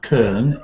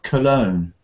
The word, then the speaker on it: Cologne: English no no well first of all it's not Kern it's cologne colog so we